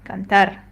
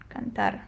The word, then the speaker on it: cantar: We see that it ends with an R, which is not a vowel, not an N, or not an S. Therefore, it will follow this rule, which says you stress the last syllable. Last syllable. Okay, so if I want to read it correctly, I will say cantar, cantar, because this is the last syllable in the word.